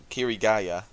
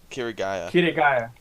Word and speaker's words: Kirigaya: of 1,000 testers that were in the closed beta, there was one man, Kirito, or Kazuto Kirigaya. Kirigaya. Kirigaya. My bad. You're getting the name wrong.